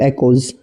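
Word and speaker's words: echoes: रिया ने कहा, the book really caught my attention, it is called eternal एकोज। इसको इको नहीं बोलना होता है, इसकी जो प्रोनाउंसिएशन होती है वो होती है एको।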